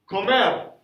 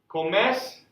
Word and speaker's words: come: Comes. He or she eats. Come. Again, it doesn't say come like come here. Right? We're now in Spanish. Spanish E says S, so it's come.